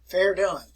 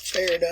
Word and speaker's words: Verdun: It is pronounced as Verdun. Verdun. If you were in class here, I'll show you an article here about Verdun.